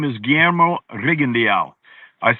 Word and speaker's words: Rigondeaux: The way his name is spelled, it looks like Rigondeaux, right? But I went to him and he said, my name is Guillermo Rigondeaux.